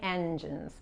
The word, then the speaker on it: engines: Okay, I'm good at repairing engines, por ejemplo. Repairing engines. Okay, esta G se pronuncia como la J.